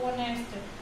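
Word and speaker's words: honest: Okay, इसमें जो एच होता है ये आपका कैसा है, साइलेंट है. ओके, एच साइलेंट है इसलिए यहाँ से पढ़ेंगे तो उसको हम कैसा इसका प्रोनाउंस करेंगे, ऑनेस्ट.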